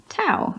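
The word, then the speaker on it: Tau: in the first place Tao is simply towel to rhyme with cow they don't you say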